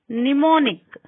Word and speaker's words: mnemonic: M is not pronounced when it comes before N. Mnemonic.